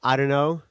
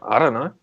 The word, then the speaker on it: IDunnö: How you pronounce the name? Just IDunnö. Yeah, what's your band name? I don't know.